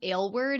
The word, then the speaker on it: Aylward: all for that and my last name is pronounced ale word it's kind of a funky one so just in case you're wondering about that too like ginger ale word that's how it goes um I'm a filmmaker